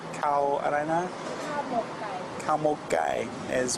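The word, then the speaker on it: ข้าวหมกไก่: Cow mok gai is how they say it in Thai.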